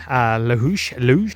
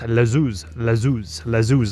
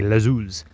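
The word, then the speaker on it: Les Houches: So I've been pronouncing Luge, wrong. It's Lazuz, almost like you pronounce it with the H is like a Z. Lazuz is how the locals pronounce it.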